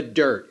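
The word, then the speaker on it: Dyrt: last year in utah is the dirt and that's spelled d-y-r-t and it has a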